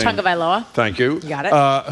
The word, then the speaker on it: Tagovailoa: I can't pronounce his last name. Tagovailoa.